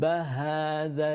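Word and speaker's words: هذا: Ha, the dal needs to make sure that the central incisors come beyond or the tongue comes beyond the central incisors at the top.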